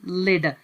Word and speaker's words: lead: और यहाँ पर जो दूसरा वर्ड आपको नज़र आ रहा है इसको कहा जाता है लेड।